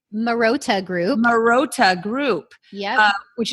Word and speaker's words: Marotta: Is that how you pronounce it correctly? Marotta Group.